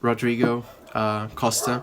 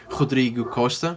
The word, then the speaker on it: Rodrigo Costa: I'm Rodrigo Costa. That's my name in English. In Portuguese, you would pronounce it Rodrigo Costa.